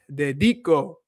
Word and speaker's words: dedico: The rule of thumb with pronunciation is if the word ends with a vowel, the first to the last syllable is stressed, so it's pronounced dedico.